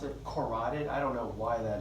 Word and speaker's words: carotid: right side notice it's spelled keratin but we pronounce it carotid I don't know why that is but don't